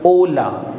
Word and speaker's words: hola: or hello in Spanish we say hola hola in Spanish H is always silent and therefore it becomes hola the next is good